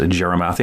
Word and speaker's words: Gyarmathy: texas my friend tammy jerimathy and if you want to look up jeremathy it's actually g-y-a-r-mathy like gyromathy but it's pronounced jeremathy i'm to call her